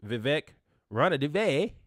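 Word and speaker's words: Vivek Ranadivé: Then the owner from the Kings, Vivek Ranadive, I said it right.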